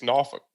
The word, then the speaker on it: Norfolk: Like it's the naval base there, but if you're from the area, it's Norfolk. Norfolk. I always thought it was Norfolk. Norfolk.